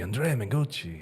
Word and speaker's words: Mengucci: Andrea Manguchi.